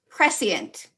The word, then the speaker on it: prescient: Sarah, your word is prescient, or pronounced prescient.